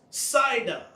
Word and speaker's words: Sidon: to be bordered to zidon which is called also pronounced sidon and we see that